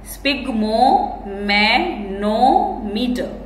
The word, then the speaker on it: sphygmomanometer: Okay, so the pronunciation of this word is spigmomanometer.